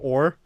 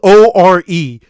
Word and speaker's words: Ore: Girl or? Or yeah, Magical Girl Ore. Okay, you can't blame me. It's spelled O-R-E. You can't blame me for saying or.